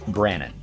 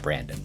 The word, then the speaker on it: Brannon: That's right, there's absolutely no D in the name, pronounced Brannon, not Brandon.